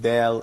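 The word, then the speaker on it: دال: And as you see, this consonant is pronounced like a frontal in English, like in dentist. This probably could be very close to the D letter in English language. This letter Da doesn't connect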